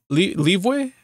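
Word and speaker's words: Liyue: uh down the path to leeway harbor that's how you pronounce it so i don't even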